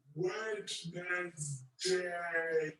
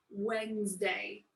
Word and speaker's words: Wednesday: The third day of the week we have is not Wednesday. It's Wednesday. The fourth one is Thursday.